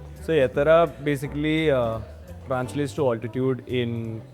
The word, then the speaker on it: Ettarra: It's pronounced as Yettara. And what are the versions that you've heard? We heard Ettara, we heard Ittara, Juttara, Juttara.